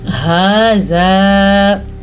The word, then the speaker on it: هذا: کافرون، ھذا، ہا کے تلفظ کا خاص خیال رکھنا ہے اور آگے الف مدہ بھی ادا کرنا ہے. ھذا یوم عسر.